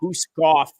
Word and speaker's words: Guskov: When you say Guskov, you can't just say Guskov, right? You got to say it with an emphasis in the end. Guskov. Guskov. Like you're emphasizing the F, like Guskov.